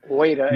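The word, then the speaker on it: Ueda: I believe his name is I have trouble pronouncing his name waita is correct yeah where he's going to sort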